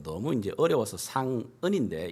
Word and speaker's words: 상은: 왜냐하면 제 이름을 영어로 이렇게 사람들이 발음하기가 너무 이제 어려워서 상은인데 이 발음을 똑바로 하는 사람을 만나질 못했어요. 상응 이러면서 이렇게 이 받침이 안 되니까 이들을 위해서,